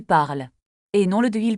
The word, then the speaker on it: parles: Tu parles très bien. Il parle avec Camille. Nous parlons ensemble. Vous parlez français ? Il parle beaucoup. Attention à la prononciation. On ne prononce pas le S de Tu parles et non le de il parle.